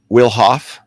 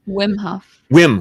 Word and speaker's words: Wim Hof: breatharians monica no have you heard of will wilhoff is it wilhoff i think i'm saying it right wim hof wim hof that's it you you've obviously heard